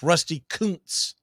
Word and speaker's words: Rusty Kuntz: It's Rusty Kuntz as it's pronounced.